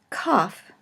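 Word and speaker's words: כף: in English and then COFF COFF is pronounced either as a hard cut sound or a ha sound as in Locke or Bach and we will be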